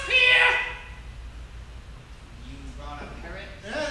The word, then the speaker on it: Pierre: on your arm squat it's pronounced Pierre you brought a Parr